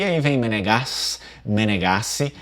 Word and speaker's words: Menegassi: Existe também uma derivação com dois Es, porém a pronúncia vêneta ela nunca vai ser Menegazzi, né, Menegazzi, nunca vai ser assim, sempre vai ser Menegassi.